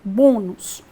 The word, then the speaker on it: bônus: para ver a palavra bônus a palavra bônus tem duas sílabas a palavra bônus tem duas sílabas a penúltima sílaba é a forte pronto resolvido então aqui